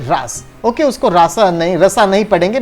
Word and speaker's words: रास: इट इज नॉट रासा, इट इज रास only. रास इज a dance to